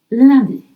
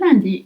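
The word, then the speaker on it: lundi: So, keep your lips stretched. L sound. L D. And I in French is always I. Can you make that sound? E. Yes. Good. So, let's try again. Landy. And Landy is Monday.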